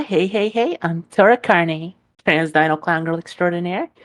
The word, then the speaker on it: Carnae: how do you pronounce the last name? Carne? Carney, yes.